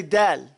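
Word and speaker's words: دال: from this fat of del is that you say dal here when you do del your tongue has to be flat in your mouth before you even start okay you cannot even start to pronounce the letter del until look at my mouth my tongue is flat it's wet at that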